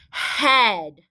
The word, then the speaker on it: head: the word head head now when we look at this word it has the vowel team e a what does e a usually say usually says e but this is a trick word it's a word we